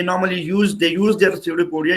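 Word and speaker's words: pseudopodia: ये finger like projection जो है ये कहलाता है सीडोपोडिया। पी इसमें साइलेंट होता है, ये पी नहीं है इसका, पी साइलेंट है, ठीक है।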